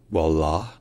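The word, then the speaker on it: والله: notables qu'on va étudier la première c'est la prononciation en arabe classique littéraire qui est wallah wall et ensuite c'est la prononation courante qui est wall wall alors il y a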